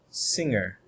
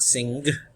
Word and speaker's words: sing: end with all right for example sing it's not singed should not have a hard okay sound at the end okay now rule exceptions